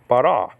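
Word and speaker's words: ברא: And then you have the silent letter aleph to cap off the word bara.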